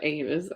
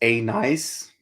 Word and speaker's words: anise: It's anise, is what it's pronounced? Anise? Oh, anise. Okay. Black licorice, that's anise. Oh my gosh, you called it anise? It's anise. I called it anus.